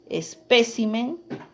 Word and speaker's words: espécimen: por la sílaba tónica dicen o bien espécimen y está en la ela tilde mira y al pluralizar se cambió ya no en él sino en la y especímenes muy bien el otro es